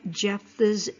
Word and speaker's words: Jephthah: It is the story of the human sacrifice of Jephthah's daughter found in the book of Judges, chapter 11. Now, Jephthah, pronounced Jephthah, was a judge of